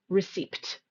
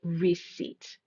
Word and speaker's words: receipt: It does have a silent P. We do not say receipt. We say receipt.